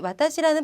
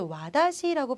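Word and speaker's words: わたし: 많이 들어보셨을 거예요 그런데 주의하셔야 할 것은이 와다 시라는 발음 자칫하다가 어떤 분들은 와다시고 발음하기가 쉬워 하지만 우리는 어 발음 시간에 열심히 다치 있을때 또 공부했기 때문에 와다시 와다 시라고 아주 좀 유창하게 발음을 해 보시면 되겠습니다 자 나 또는 저라는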